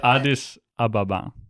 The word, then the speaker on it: Addis Ababa: So how do you pronounce it? Addis Ababa.